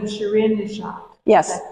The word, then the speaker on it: Shirin Neshat: I want to make sure her name is Shireen Nishad. Yes. Is that correct? Yeah. Yeah. And how do you pronounce where she was born?